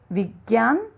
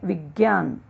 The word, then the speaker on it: विज्ञान: विज्ञान अशुद्ध शब्द है, होना चाहिए विज्ञान।